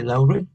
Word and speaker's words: Louvre: When Rita traveled to France, she had visited the Louvre.